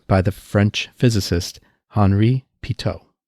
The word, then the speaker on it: pitot: the french physicist henry pito he was french therefore the pronunciation is pito not pai tat even though it's spelled